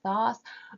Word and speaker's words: Thoth: Yeah, we pronounce the god Tot, and yet Crowley's tarot deck Thoth.